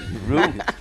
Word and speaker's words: Root: You pronounce his name Root, too. He always told me like Route 66. That's right. Root, just like a tree root.